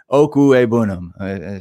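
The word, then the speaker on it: Okwuegbunam: go check that out if you're curious its oku a bounnam if you need to practice that in the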